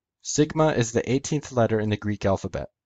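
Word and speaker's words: σίγμα: In classical Greek, it was pronounced sigma. In Koine, in modern Greek, it's pronounced sigma.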